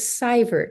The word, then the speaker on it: Seivert: the the name is cybert it's that Germanic and French debate about how to pronounce the EI okay so it's spelled EI but it's pronounced I so that's that's I